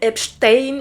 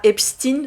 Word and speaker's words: Epstein: Alors oui hein, je vais dire Epstein et pas Epstein et pour la simple bonne raison que je suis néerlandophone d'étude et chez nous EI se prononce è et pas euh i.